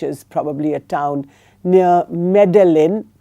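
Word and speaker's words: Medellín: Um and he's in a university called the EIA University in Envigardo which is probably a town near Medelin pronounced Medí in uh Colombia as I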